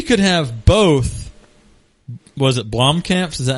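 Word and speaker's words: Blomkamp: late 2016 we could have both was it Blom camps is that how you say his name Blom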